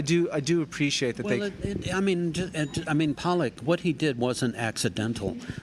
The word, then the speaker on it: Pollock: Pollock?